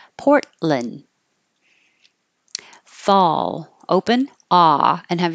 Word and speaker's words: Portland: Portland you can say Lin or Lun either one but you won't hear the T and you won't hear the D when your tongue goes up to the T for the port hold it there and don't release the air port just hold port and then you're in the right position for the L Portland fall open ah and